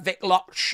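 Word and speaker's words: Wikłacz: Wicklax is what they're saying. Vic Vic Loch, we asked Mr. uh Vic Loch how you pronounce his name, said John Anick.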